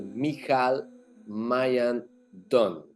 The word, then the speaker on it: Michal Maayan Don: to be with the mikal Mayan Don if I pronounce correctly your name perfect perfect welcome I'm